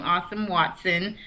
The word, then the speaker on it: Asem Watson: our guests um awesome awesome that is how you say his name awesome Watson um a young brother